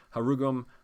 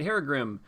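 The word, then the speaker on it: Herugrim: So if she gets Harugum on her, she can use her Haragrim? Haragrim, that's how you say it.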